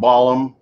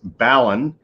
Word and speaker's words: balun: u n it's not balon uh it's not balum it's balin and the b a l is balanced and